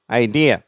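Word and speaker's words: idea: குப்பை கோலங்கள் அது அடுத்தது ஐடியா ஐடியா சரியா ரெண்டாவது சிலபில் ஸ்ட்ரெஸ் ஐடியா நெக்ஸ்ட் இமேஜினேஷன் சரியா இமேஜினேஷன்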